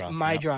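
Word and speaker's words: Meidroth: Chase Mydroth.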